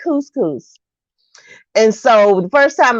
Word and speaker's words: couscous: And so then the lady said, couscous. I said, yes. So that was on me, but I had never have mispronounced it what you say? before. Kush, kush. I don't know whatever I said. I didn't say couscous. Was a cuss, cuss.